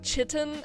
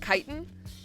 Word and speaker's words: chitin: So I've heard it pronounced both chitin and chitin. I haven't actually looked up the pronunciation of it. I pronounce it chitin because that's how I hear it the most.